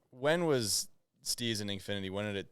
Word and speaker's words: STZ: Like you stay STZ. That's how you pronounce it. STEEZ, but you have never seen anything with that word on it. Not throwing those double E's in there. Only Absolutely not. the abbreviation.